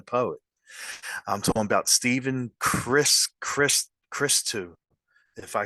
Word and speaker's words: Christou: So it's pronounced Christou.